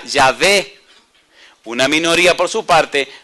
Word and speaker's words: Yahveh: eruditos hebreos opinan que la pronunciación de las consonantes y hh era yve una minoría por su